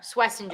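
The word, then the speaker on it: Schwesinger: Swessinger.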